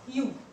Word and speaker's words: ewe: This word's pronunciation is U, and it starts with vowel. vowel से start होता है but pronunciation U है इसकी.